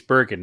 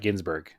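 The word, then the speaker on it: van Gisbergen: we didn't Shane van giesbergen he's Bergen not Ginsburg correct he's broken okay Shane Van giesbergen just announced I think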